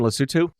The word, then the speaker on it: Lesotho: grew up in lusitude is that the correct pronunciation Lesotho yes it's like now we know how to